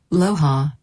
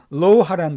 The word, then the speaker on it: Loja: Loja, Ecuador. 예, 에콰도르에 있는 로하라는 도시예요. 로하. 자, 보통 이게 J가 스페인어로는 H로 발음이 되는데요.